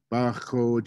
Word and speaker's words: Baxoje: Baxoje is how you say it, like an Indian, like in German, ach is what that sound is.